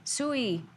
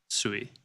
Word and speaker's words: Sui: Sui. Ooh. We need to agree on how we're saying that. Sui. Sui. Yeah. Like chop suey.